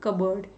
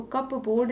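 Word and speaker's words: cupboard: The money from the कबर्ड। इसको कबर्ड बोलते हैं, कबर्ड। इसमें जो पी होता है ना वो साइलेंट होता है, इसको कप बोर्ड नहीं बोलते।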